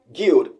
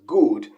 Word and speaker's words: good: christiano he said guild guild and of course that's a mother tongue interference there actually the standard british pronunciation is good good without the yield sound but christiano said guild with a yee sound the people who really